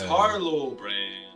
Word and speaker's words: Harlo: That's Harlo. Oh, yeah. Harlo. It's a silent H.